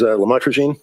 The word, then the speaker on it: lamotrigine: the drugs, about the Lamictal, otherwise known as lamotrigine. Did I pronounce that right?